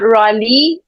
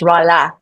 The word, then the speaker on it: Rahle: It's not Rahle. The E is pronounced like an A, so it's Rahle. Right, right. And Uh, yeah, so my name is always an icebreaker because it's not pronounced at all how you spell it.